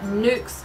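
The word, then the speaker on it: Nuxe: without a doubt it has to be the nukes lip balm n-u-x-e is how the brand is spelt they only have one lip balm i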